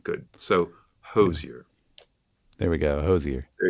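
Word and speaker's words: Hozier: pronouncing his name wrong I said hoser it's not hoser it's Hosier Hosier Hosier so I apologize Andrew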